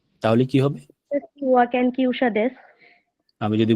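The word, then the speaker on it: は: এরপরে আনাতার পরে হা দিলাম, মানে উচ্চারণ হবে ওয়া, ঠিক আছে?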